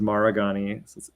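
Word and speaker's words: Maragni: and so you know my last name is maragani it's m a r a g n i and he would spell it Maharani and so in Hindi Maharani means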